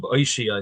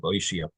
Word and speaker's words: Oshaya: So we'll pronounce Reb Oishia. I think that's the way my Rebbeim pronounced Reb Oishia.